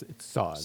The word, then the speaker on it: Sauz: it's not pronounced sauce. It's Sauz.